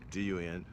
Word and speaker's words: Vodun: Vodun. It's misnamed in the West as voodoo, but it's not.